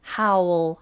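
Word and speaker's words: how'll: how how how and that's a dark hell as well howl howl howl quite a difficult one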